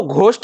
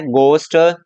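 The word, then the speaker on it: ghost: इसको घोस्ट नहीं बोलेंगे, इसको बोलेंगे गोस्ट, स्कूल।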